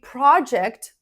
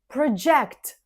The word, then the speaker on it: project: Some words are spelled the same, but they change their stress depending on whether they are a noun or a verb. For example, a project. The first syllable is stressed.